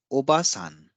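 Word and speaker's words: おばさん: This is written in hiragana, obasan. Obasan. Obasan. Obasan means aunt. Now, if we introduce an additional a sound here after oba, then it gives the pronunciation of obasan.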